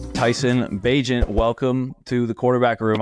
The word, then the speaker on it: Bagent: Tyson Bagent, welcome to the quarterback room. I'm saying it right, Tyson Bagent, right? Perfect. Yeah, you're one of the only people to say it right.